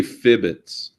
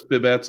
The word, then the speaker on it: fibbits: I say fibbits. I've always said fibbits. That's kind of the way it's spelled, but let's just say that that's the standard way. There you have three of us. We all agree fibbits. If someone comes and says fibbets, I'm correcting them from now on.